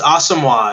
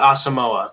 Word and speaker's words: Asamoah: awesome it's not it's awesome it's not asamoa so we've been saying it wrong this whole time um we're going to